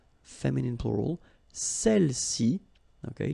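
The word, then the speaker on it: celles-ci: Feminine plural, celle-ci, okay, don't pronounce the final S, celle-ci, celle-là, all right?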